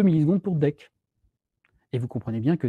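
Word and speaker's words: deque: vous allez voir une autre classe qui s'appelle dec alors il faut la prononcer dès qu'un certain qui prononcent des kew marqué dans la documentation a prononcé de bec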